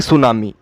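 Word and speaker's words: Tso: तो इस तरह से आप टीएसओ सब में कॉमन है। टीएसओ मतलब सो है, लेकिन टी यहाँ पे साइलेंट होता है, जैसा कि हम वहाँ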